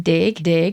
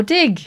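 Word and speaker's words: deg: Dig.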